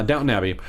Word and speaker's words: Downton Abbey: no no no no it's downtown abbey uh Downton Abbey uh is uh gonna play the lead he's